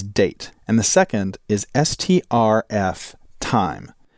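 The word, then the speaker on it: strftime: and the second is stf time now you can either pronounce that string for time string format time but the idea is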